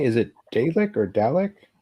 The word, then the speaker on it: Dalek: So how do you say, is it Dalek or Dalek? Dalek.